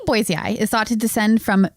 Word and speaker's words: Boisei: I figured out how to pronounce it. Boisei also, or I'm just going to say Zinj,